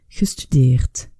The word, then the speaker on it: gestudiert: Alors, la prononciation ne nous aidera pas ici, puisque, quelle que soit la terminaison écrite de ce participe passé, que ce soit T ou que ce soit D, on le prononcera T à l'oral.